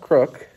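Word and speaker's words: Крук: all decked out and crook furniture um it's pronounced crook but it is spelled k p y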